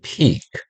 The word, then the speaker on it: peak: 그 다음 peak 긴 발음이에요. peak가 아니고 peak, peak.